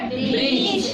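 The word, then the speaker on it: bridge: और ब्रिज में क्या साइलेंट रहता है? डी। डी साइलेंट रहता है। डी क्यों साइलेंट रहता है? क्योंकि रूल में बताए थे कि अगर जी से पहले डी आएगा तो डी साइलेंट रहेगा।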